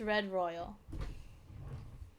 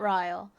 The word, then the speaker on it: RedRYAL: Apparently, it's not Riyle. Um, despite being spelled the way royal would be pronounced, it's supposed to be pronounced royal, like like royalty royal.